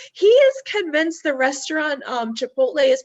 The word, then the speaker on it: Chipotle: Like, he is convinced the restaurant Chipotle is pronounced Chiptoli, and there is no telling him otherwise.